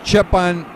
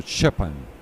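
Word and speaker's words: Štěpán: It's like Steven, but you say Stefan. So Shepan. Shepan, yeah.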